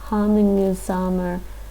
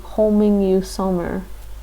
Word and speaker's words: Hamingjusamur: Sometimes I don't like the Romanization pronunciation they put in Manga languages, because that just doesn't sound like hamingjusamur with that. That makes me think homingjusamur.